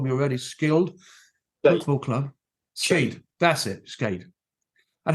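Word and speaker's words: Skeid: I can't pronounce this word now. You've told me already. Skilled football club. Skade.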